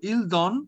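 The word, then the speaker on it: donnent: right here okay now ent is not pronounced we only d o double n so ildon or eldon okay so what are the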